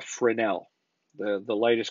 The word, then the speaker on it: Fresnel: And the way that you pronounce that is a Fresnel.